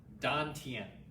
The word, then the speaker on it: dantien: the don i know somebody's asking me to spell it right now so i will it's d-a-n-t-i-e-n don tien okay so the dante n is our lower